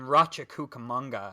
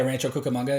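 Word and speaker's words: Rancho Cucamonga: I had one in Ratcha Cukamonga. I think I'm pronouncing that correctly. Yeah. Rancho Cukamonga.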